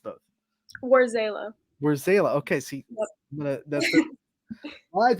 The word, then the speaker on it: Warzala: is it because I've heard it pronounced both War zayla where's zayla okay see live on the show you heard it here it is where zayla and we are going to stick with that